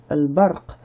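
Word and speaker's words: البرق: Ici, article qui se prononce sauf le alif qui va être avalé au cours de la liaison entre les deux mots. L, ba, r, qu. Al-barq.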